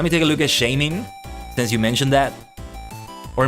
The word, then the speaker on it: Shaymin: take a look at shaming since you mentioned that or maybe it's shining in Japanese it's shamey oh no it's Shaman yet shamey Shaymin but yeah uh let's see